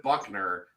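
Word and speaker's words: Buchner: be Tyler Buckner and if you spell your name bushner and you pronounce it Buckner I can't take you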